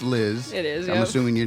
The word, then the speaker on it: Llxzz: So, you spell your name LL X, but it it is pronounced Liz.